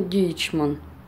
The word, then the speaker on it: Deichmann: сайте написано перевод по-русски Дайхман. Я склонилась больше, написала название Дайхман, чтобы, если что, в общем-то, вы понимали то, что именно произношение Дейчман, в общем, вот так вот, правильное, вот, этого магазина, в котором я вот обзор вам делаю.